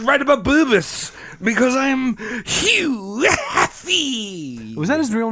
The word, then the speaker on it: Hugh: It wasn't Hubert or Huey. It was No. Hugh. Just Hugh. Ah. His mother was from Swedish descent. His father was English and German. You're supposed to pronounce it Hugh.